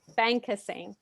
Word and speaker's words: Bankasingh: When it arises So for our Conflict Resolution workshop tonight, we have Bankasingh... Is it pronounced Bankasingh? your last name? : Bankasingh Thank you so much.